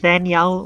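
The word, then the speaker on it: Faneuil: Name of this building is pronounced Fanyal or Fannel. Getting it wrong was a good way to indicate you're not from around here, but it's also a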